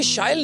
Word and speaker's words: Shail: So as you just said, it rhymes with style।